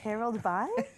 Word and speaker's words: Harold's Bay: Harold's Bay, that's how you say it, eh? Harold's Bay. Harold Bay? That's exactly how to say it.